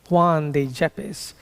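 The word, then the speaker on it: Juan de Yepes: So Juan depppes jeep in in in Spanish why is often pronounced as a J. So Juan de Jeppes also known to us as John of the cross was born in 1542.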